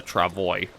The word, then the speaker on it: travois: But we are making very good progress along here with the travois. And I am going to keep trying to use this pronunciation of it.